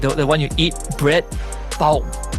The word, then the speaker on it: pão: I'll do my best to not butcher it because it's in Portuguese. It's pão. It means bread in Portuguese. Like the one you eat, bread, pão.